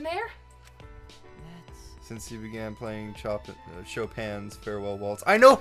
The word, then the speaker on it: Chopin: Since you began playing Chopin's Farewell Waltz. I know how to pronounce my composer names, I swear. I mispronounced it, so don't worry. You're a little Chopin. Less stupid it's than pronounced me. Chopin.